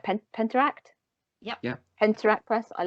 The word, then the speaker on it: Penteract: And I love, I'm hopefully I'm pronouncing it right, Penteract?